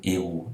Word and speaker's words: eu: E o eu, que é do verbo avoir, ele é pronunciado como U.